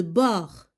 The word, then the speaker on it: bord: Écrit un mot de la même famille de bord. Bord, regardez là, le D, on ne le prononce pas.